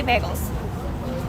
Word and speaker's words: bagels: It's like bay, like you're my bay, and then gulls, like the seabird. That is how you say bagels. There's no other way to say it because I've tried many, many ways and it doesn't work. So that is legitimately the correct way to say bagels.